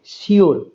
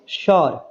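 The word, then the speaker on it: sure: শিওর। শিওর না বলে আমরা কি বলবো? শর। শর। তাহলে এটাকে সবাই কিভাবে উচ্চারণ করে? শিওর। কিন্তু এটা সঠিক উচ্চারণ নয়। শিওরের সঠিক উচ্চারণ হচ্ছে শর। শর।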